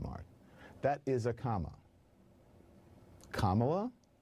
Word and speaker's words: Kamala: Kamala, add a la, comma plus la is Kamala. So think about a simple punctuation mark, a comma and then a la.